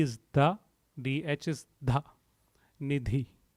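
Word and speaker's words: निधि: The 567th name, Bhakta Nidhi. Bhakta Nidhi. Let's pronounce it word by word.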